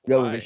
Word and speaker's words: Jovovich: Is that how you pronounce the last name? Mila Jovovich? Jovovich, yes.